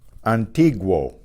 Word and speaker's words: antiguo: Antiguo. There, the U is pronounced because it's in combination with a strong vowel. It becomes a diphthong. Wo. Antiguo.